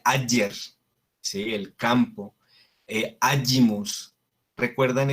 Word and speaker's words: ager: Después, la G se pronuncia como una Y, como una Y, ¿sí? Entonces, aquí en el ejemplo tenemos Ager, pero no se pronuncia Ager, se pronuncia Ayer, ¿sí?